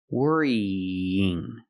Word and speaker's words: worrying: sound two times worrying how do we link those sounds we link them with the YY sound like yesterday and yes worry Ying worrying worrying pronounce e two times and Link the sounds with Y in the middle worrying worrying not worrying